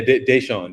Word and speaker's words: Deyshaun: Because I've been trying to pronounce everybody's name correctly. Yeah, Deyshaun.